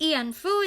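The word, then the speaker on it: 慰安婦: So the term comfort women, pronounced ianfu in Japanese, wianpu in Korean, wianfu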